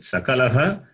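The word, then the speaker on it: सकलः: Sakalaha, Shakalaha. Both are different. So meanings are also different. Sakala is different. Shakala is different. Sakala is everything. Shakala is parts. So if you change the pronunciation, the meaning will change.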